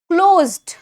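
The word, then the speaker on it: closed: pulled argue argue argue क्लोज्ड द S sounds like vibrating ji सो the word would sound like क्लोज्ड क्लोज्ड अब यह वाले क्लोज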